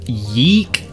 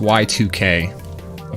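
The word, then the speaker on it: YIIK: beginning of the game it's pronounced Y2K post-modern RPG um and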